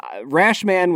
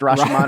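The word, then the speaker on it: Rashomon: know just just a movie I enjoyed uh rash man was not great didn't didn't enjoy I love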